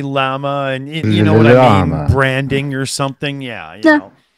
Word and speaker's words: Llama: I say that word llama it's just a llama okay I wasn't sure if because of the uh uh you know be being meta or not there was some like first say the L and then say llama branding or something yeah yeah okay but uh